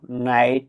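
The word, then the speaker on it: knight: উদাহরণস্বরূপ, নাইট, নো এই শব্দগুলোতে আগে কে উচ্চারিত হতো, এখন হয় না।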